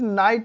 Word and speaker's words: knight: तो ये याद रखना कि के बाद अगर कहीं पर भी एन आता है तो के साइलेंट हो जाता है। अभी नेक्स्ट इज नाइट भी होता है, KNIGHT।